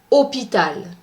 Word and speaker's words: hôpital: Do not pronounce the H at the beginning of a word. This is a big difference between English and French. In French, the H is always silent.